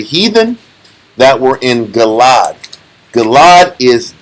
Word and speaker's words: Gilead: Gilad is Gilead. Gilad is Gilead. This is how you pronounce it differently?